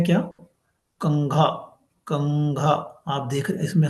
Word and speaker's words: कंघा: तो ये साउंड करेगा आपको न की तरह, लेकिन ये है क्या, कंघा, कंघा। आप देख रहे इसमें साउंड, अगर मैं जब प्रोनाउंस कर रहा हूं तो कैसे आ रहा है, कंघा।